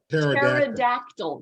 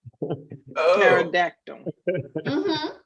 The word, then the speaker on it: pterodactyl: going to the bathroom pterodactyl the dinosaur pterodactyl because the p is silent oh now that's way